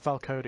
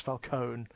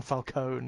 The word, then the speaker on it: Falcone: So many wrong pronunciations. It's not Falcone, it's Falcone. It's Don Falcone, you know.